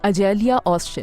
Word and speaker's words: Açelya Özcan: इज़ इट the right pronunciation of your name? यही ऐसे ही बोलते हैं इस नाम को? जी बिल्कुल, अजेलिया ओज़चन।